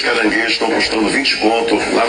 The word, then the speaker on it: caranguejo: Caranguejo não é com I.